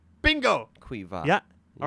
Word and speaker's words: Caoimhe: I'll spell it out first. Caoimhe. Caomhe. Caomhe. Caomhe. Caomhe. Quiva.